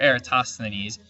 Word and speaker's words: Eratosthenes: right ideas this guy aristosthenes tough word to say era tossed the Ines it's uh sth that's the hard syllable right there eratosthenes uh he calculated the